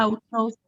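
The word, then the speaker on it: αὐτός: Autos. Autos. Autos. Muy bien. No es Ay. autos, el diptongo. Autos. Bien. En este caso, Y, la única, ¿sí? Ves que pronuncia como U, junto con alfa.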